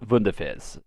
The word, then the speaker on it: Wunderfizz: I do have one thing to note, though, is that it is called Wunderfizz. We call it Wonderfizz. It's Wunderfizz, I assume, the way it's spelled.